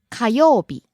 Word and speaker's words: 火曜日: 月曜日 Next we have 火曜日 Tuesday. 火曜日火曜日 Rising on the second syllable, falling on the second to last syllable.